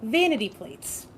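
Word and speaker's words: VNTYPL8S: look it up because I'm going to say the name and it's not how it's spelled. So, the game is called Vanity Plates. Okay. spelled then. It's So, it's spelled like you spell on a license plate. So, it's VNT Yeah. YPL 8 S.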